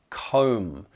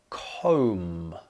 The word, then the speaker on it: comb: on the list is comb the thing that you use to organize your hair comb which again is spelled with a B but actually not pronounced Hood one and it's